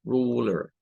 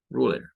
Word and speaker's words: ruler: Lo que hemos dicho, hay una tendencia en las palabras que terminan con la combinación ER al final, donde se cambia ese sonido de la E.